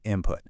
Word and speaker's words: input: So why does the N sound turn into an M sound? Well, think about it. The P that comes right after it is made with your lips. So, your mouth just plans ahead and makes the sound before it, also with the lips.